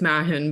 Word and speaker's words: Mahon: has been on the show before, and Mahon, who is a criminal defense attorney in Vancouver. Thank you both for coming on. Is that actually how you pronounce your last name? No, it's Mahon, but I Yeah.